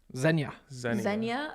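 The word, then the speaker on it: Xenia: from the united states how would you pronounce x-e-n-i-a zenya ohio okay all right still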